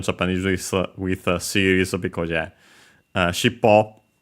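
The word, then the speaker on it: しっぽ: with series, because yeah, shippo, accent on the last more, is technically a compound.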